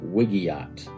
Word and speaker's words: WIGIAT: word is yeah so i say it like wiggy ot wiggy ot now here's the thing